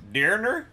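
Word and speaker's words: Döner: It's like, Dürner? Dürner? There's an umlaut over the O.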